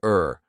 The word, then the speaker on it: or: do you see how the or now sounds like er okay let's continue would you like tea or coffee tea or coffee sounds